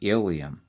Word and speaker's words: ileum: And the last and longest section is the ileum. I-L-E-U-M. Not to be confused with the bone, that's the ileum. That's spelled I-L-I-U-M.